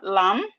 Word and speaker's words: lamb: We have words with silent letter B. We have doubt. we have doubt, we have debt, we have lamb, we have thumb, we have plumber. All these words, they have silent letter B.